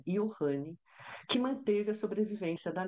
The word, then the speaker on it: Johnny: que espertamente quer agora ser chamado com a pronúncia alemã Ian que Manteve a sobrevivência